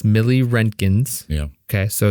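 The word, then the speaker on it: milliroentgens: It's millirentgens.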